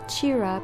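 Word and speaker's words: Cira: the name sierra or i think in this case it would be pronounced chira because it is an italian name meaning the sun and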